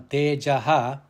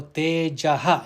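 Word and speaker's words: तेजः: The visarga on Tejaha, it is followed by the letter ksha, that is kshama. So tejaha, it should be pronounced tejaha, not teja, kshama.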